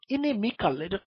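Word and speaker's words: inimical: থেকেই এনমিটি একই রকম ইনিমিকাল বানানটা আই দিয়ে শুরু কিন্তু উচ্চারণটা একই এবং অর্থ একই শত্রুতা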